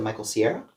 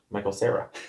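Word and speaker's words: Michael Cera: You said Michael Sierra. Michael Sarah. Sarah. Sierra. Michael Sarah. I can't even pronounce his name.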